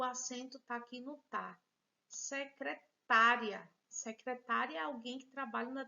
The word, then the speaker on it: secretária: e veja aqui o acento aqui no parque secretária secretary alguém que trabalha na terminada a função